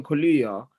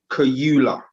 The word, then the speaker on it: Kaluuya: Firstly, when he's talking about Daniel, he's saying this British actor, Daniel Kaluuya. That's the first thing. So he's not even pronouncing Daniel's name correctly. So he's saying Daniel Kaluuya.